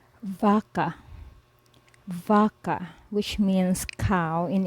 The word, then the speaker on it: vaca: It is pronounced as V, as in English, vase, lava, have, when used in the start of a word or syllable. For example, vaca, vaca, which means cow in English, vaca, vaca.